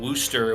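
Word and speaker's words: Worcester: we actually filmed in Wooster which is like War Chester spelled like that in Massachusetts so we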